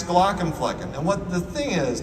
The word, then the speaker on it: Glaucomflecken: much easier to pronounce Glock and flecken and what the thing is now that people actually think my name is Dr glocken flecken like I I people